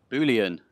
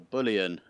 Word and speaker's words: Bullion: hello everyone welcome to boolean or bullion i don't know how you say it i think it's bullion like you know a bull like a cow yeah um this is